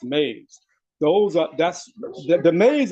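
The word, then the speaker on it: EMEs: It's called It's pronounced maze. So, when you start reading that in the books, remember that it's pronounced maze.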